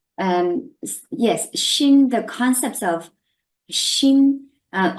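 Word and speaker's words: xin: focus on the word Shin first Shin is spelled as x i n if for your interest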